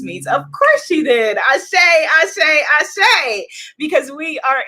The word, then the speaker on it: Asé: We're raising the energy, Goddess Leticia says, or Leticia or Leticia says, in the Caribbean we say Ashay and do not pronounce the A at the end, just as in Espanol.